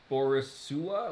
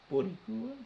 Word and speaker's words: Boricua: Okay, on the list of things that you mispronounced, uh, Squido is still beneath Borisua.